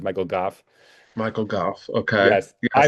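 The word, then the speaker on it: Gough: It actually is Ah, pronounced Goff. It's like cough, but with a G. It's Michael Goff.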